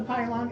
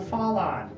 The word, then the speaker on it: Fallon: And it's not the pylon, it's the fallon. Pronounce Oh. it correctly, you guys. All right, let me change the P to the F.